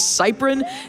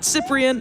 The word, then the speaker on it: Cypron: As someone whose last name is always mispronounced, my last name is Cypron, not Cyprien, not Cyprien.